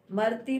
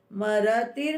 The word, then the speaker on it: मरतिर्: मरती मरती बोलते हैं कई बार, ये इमरती थोड़ी है खाने वाली, मरतिर बोलना है, मरतिर, मरण, मृत्यु अलग होती है, मरण, मरण बोलेंगे कई, मरण, मरती, ये गलत है उच्चारण, मरतिर, माँ पूरा, र पूरा, मरतिर।